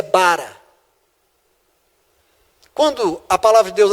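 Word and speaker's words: ברא: A pronúncia é bara.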